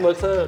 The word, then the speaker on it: Mezger: Which is the Mezger engine I'm not sure how to pronounce it, but it's spelled M-E-Z-G-E-R. Yeah, I call it Merzer It's designed by Hans